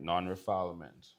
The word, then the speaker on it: non-refoulement: And you're going to see where it defines non-refoulement. It's spelled non-refoulement, because that's not how you pronounce it. All right, non-refoulement.